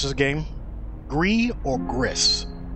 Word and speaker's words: GRIS: Gree. I think it is pronounced Gree.